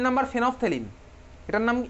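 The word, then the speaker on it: phenolphthalein: 3 নম্বর ফেনফথেলিন, এটার নাম, এটার প্রোনাউন্সিয়েশন কিন্তু ফেনফথেলিন হয়, ঠিক আছে? ফেনল অফ থ্যালিন নয়, এটার অ্যাকচুয়ালি প্রোনাউন্সিয়েশন কি, ফেনফথেলিন।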